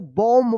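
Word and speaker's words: bomb: बी क्या पढ़ेंगे इसको बॉम्ब पढ़ेंगे बॉम्ब यहां पे क्या है एम के बाद लास्ट में देखिए बी आया है तो बी क्या रहेगा साइलेंट रहेगा एम का उच्चारण होगा बॉम्ब टी ओ एम बी टुम क्या पढ़ेंगे इसको?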